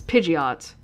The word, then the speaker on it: Pidgeot: to pronounce it cuz it's Pidgeot but the D is silent to me however Pidgeot